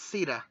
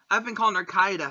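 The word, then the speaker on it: Caeda: And thanks to Warriors, I finally know how to pronounce Sita. I've been calling her Kaida throughout all these years.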